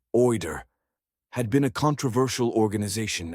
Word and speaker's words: OID: OID, usually pronounced OER, had been a controversial